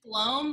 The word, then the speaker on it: Blome: wrong so it's okay but it's blown like home Oh laughing but it's